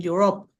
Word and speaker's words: Europe: Which city has the biggest soccer stadium in Europe? Barcelona. Barcelona, that's right. Very good. So the continent, this is pronounced Europe, okay? Europe.